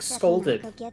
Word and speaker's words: scalded: So So you can pronounce it correctly, like scolded.